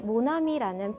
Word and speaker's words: mon ami: 어렸을 때 굉장히 많이 사용했었는데 사실 이 모나미라는 펜 이름이 프랑스어였다는 사실 알고 계셨나요? 정확한 발음은요. 모나미, 모나미, 모나미 라고 하고요.